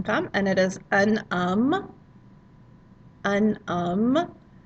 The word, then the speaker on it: homme: You'll notice it's got that silent H at the start of the word. Anytime you have a word initial H, it's going to be a silent H unless it's aspirated, and we hardly ever see that.